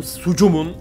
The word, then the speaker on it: SCUM: Bugün Sucum'un ikinci bölümündeyiz. Scam diye okunuyor. Ben Sucum diyorum.